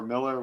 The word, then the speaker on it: Millar: It's Millar. But I think it pronounces is. it Miller. Okay.